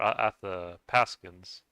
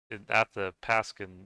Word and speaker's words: Athabaskan: you know athabaskans or at the paskin um I I learned that um that's uh at the pasan even though they're it's spelled with a B you pronounce it like a like a p so that's one thing